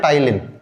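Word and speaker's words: ptyalin: और salivary amylase में बच्चों एक हमारे पास एंजाइम है, और इस एंजाइम का नाम है टाइलिन। पी साइलेंट होता है, इसका नाम क्या है, टाइलिन।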